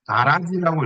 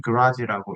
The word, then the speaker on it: garage: 자, 오디 하면 보통이 평범한 예, 가라지라고 읽으면 안 됩니다. 원어민은 그라지라고 읽습니다. 라지라지가 아니고요. 예. 그라지라고 있습니다.